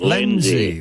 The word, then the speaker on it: Lenzie: That's how you pronounce it. You've got it right. Lenzie.